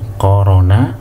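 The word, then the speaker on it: قرن: Jadi kalau antum mau mencari dari korona, bukan corona, ya, korona, yakrinu, antum cari di iktarona.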